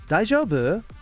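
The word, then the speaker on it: 大丈夫: Daijoubu? Try to emulate that pronunciation, that intonation. Daijoubu. Up in the middle and back down again.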